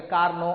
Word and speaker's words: Carnot: I will not pronounce the T. కానీ name కాబట్టి, noun కాబట్టి నువ్వు ప్రొనౌన్సియేషన్ ఏం తప్పలేదు. జనరల్గా కార్నో అని అంటారు, కొందరు కార్ నాట్ అంటారు.